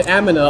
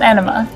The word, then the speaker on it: Amina: an abducted girl named Amina under his wing Amina Amina not anama yeah yeah Amina okay